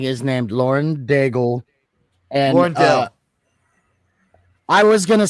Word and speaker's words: Daigle: I don't think you pronounced the G. I think it's Lauren Dale.